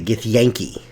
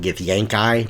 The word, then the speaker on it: Githyanki: is the gift Yankee apparently if I'm looking at Wikipedia and how you say their name I've been saying it wrong for ever 2530 years I've always called it get the yang Chi but when you hear